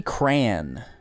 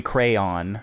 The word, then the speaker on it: cran: This is a cherry cran. And that's not a cherry crayon for you mispronouncers.